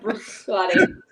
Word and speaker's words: Bruichladdich: Eric Waite says the second D in Bruichladdich is silent. Bruichladdich.